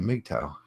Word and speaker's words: MGTOW: out there be aggressive say it like a meek Tao that's all I'm saying say it like a meek Tao dr.